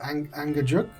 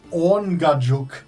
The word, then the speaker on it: Angajuk: I was totally wrong. Orngajuk. Ungajuk. Orngajuk. From Like Orn as in awning. Ga, G-A-H-J-O-O-K. Orngajuk.